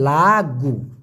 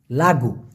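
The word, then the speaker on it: lagu: কে বলা হয় লাগু এল এ জি ইউ উচ্চারণটা হবে লাগু লাগু পগাওয়াই পগাওয়াই মানে হচ্ছে অফিসার অফিসার কে মালয়েশিয়ান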